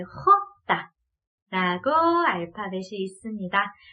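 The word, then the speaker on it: jota: 네, 그 다음은 지읒 소리를 히읗 소리로 바꿔야 되니까 헛다. 네, 헛다. 라고 알파벳이 있습니다. 자, 그래서 J랑은 좀 다르죠? 지읒 소리를 히읗으로 바꿔주고요. 그 다음에 거칠게 헛다. 라고 해주셔야 되고요.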